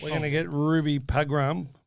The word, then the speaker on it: Pagram: We're going to get Ruby Pagram. How do you spell it, Christopher? P-A-G-R-A-M. You say it Pagram.